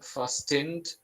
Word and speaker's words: fastened: T is silent. Fastened.